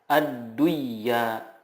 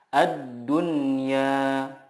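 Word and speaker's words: الدنيا: Contohnya ad-dunya, tidak dibaca ad-duyya, tetapi yang benar adalah ad-dunya.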